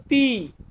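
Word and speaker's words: ti: টি টি টি কে আমরা ইতালিয়ান ভাষাতে বলবো তি তি এর পরবর্তীতে কি আছে উ মানে আমরা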